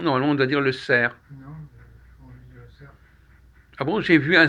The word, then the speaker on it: cerf: ou à auxerre bon j'ai vu le sert dans les bois je prononce pas le f non